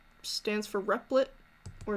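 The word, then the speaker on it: Replit: e PL dot I t it's stands for repli'd or it's pronounced repli'd and it's gonna take you to this webpage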